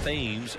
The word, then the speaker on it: Thames: Pronounced Thames, Eric Thames.